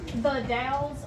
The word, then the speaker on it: The Dalles: How do you pronounce that? The Dalles, Oregon.